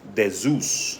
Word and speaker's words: Zeus: of nimrod and simarimus Zeus was originally pronounced de Zeus the as in David Zeus z-e-u-s okay I was starting